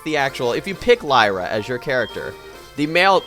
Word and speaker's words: Lyra: I've been saying it wrong the whole time. It's Lyra.